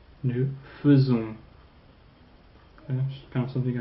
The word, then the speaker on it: faisons: Don't pronounce that A-I like you pronounce it elsewhere.